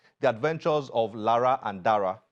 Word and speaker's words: Dara: the adventures Lara and Daraa Daraa is the right pronunciation right Dara is the